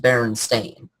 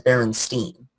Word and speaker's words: Berenstain: In the TV show, they're pronounced Berenstain. But for some reason, a lot of people, including myself, remembered it as Berenstein.